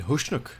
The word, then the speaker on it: Husnock: saw the guy said who schnook like there was an invisible H somewhere after the S I know that explosion